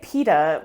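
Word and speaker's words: pitta: the word p-i-t-t-a and that informs the way i pronounce it which is pita bread and i say pita with one tea but i don't understand why you have two teas i don't know either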